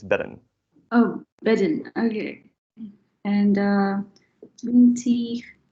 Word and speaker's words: bedden: Veel beden. There's the first, or the second, or the third? Is that the 7th? Beden? No, unfortunately not. It's bedden.